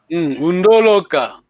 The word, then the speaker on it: Wundoloka: Undoloka. But the accent is on the first.